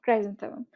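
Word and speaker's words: chrysanthemum: ক্রাই সেন the ma'am, Cry স্যান থে মাম, ক্রাইজেন্থেমাম। ক্রিজান্থেমামও অনেকে উচ্চারণ করে, ঠিক আছে।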